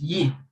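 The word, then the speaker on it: Yii: website the website is robust people go for yi because it is very secured yes in terms of security is recommended for everyone they say ye is pronounced yi or g that is what it means it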